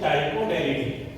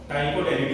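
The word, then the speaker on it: Ptychoderidae: Family कौन सी होती है, वो होती है टाइकोडेरिडी, टाइकोडेरिडी इसमें पी साइलेंट है।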